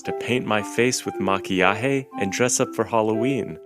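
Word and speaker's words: maquillaje: makeup in Spanish makeup in Spanish is called makiah so now let's try saying it all together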